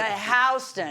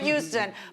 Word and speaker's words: Houston: Go Houston. The rest of the world pronounces it Houston, but it's Houston. It shows you how far south I get.